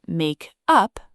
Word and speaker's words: makeup: First, the stress moves. In the phrasal verb make up, the stress is on the second word, up, but in the noun makeup, the stress is on the first word, make.